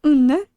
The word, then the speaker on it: under: Again, the D is kind of not pronounced, so it's unne.